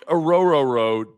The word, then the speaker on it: Orhorhoro: like I told them it's like oh r r your boat so just remember that the hes are silent and yeah just remember